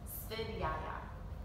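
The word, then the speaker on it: Svadhyaya: Svidyaya is the pronunciation, and it means the study of oneself.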